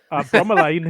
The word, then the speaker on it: bromeliad: Is that how you pronounce it, Lewis? Harry? Lewis, how do you pronounce it? Bromelain is the way I say it.